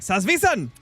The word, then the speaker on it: Salzwiesen: jaxi literally said that if you want to pronounce Sal salvon part correctly just say it Angry like salvan that's just German in